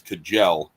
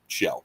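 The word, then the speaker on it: Kjell: I know uh it it's easy to attempt to pronounce KJ E L as Kajel. Yeah, I butchered that the other day. It's fine. You're not the only one. I used to as well um till I met him and realized it's Shell.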